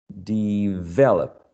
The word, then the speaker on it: develop: one um develop develop develop the the this one is stressed in the second syllable right yes develop do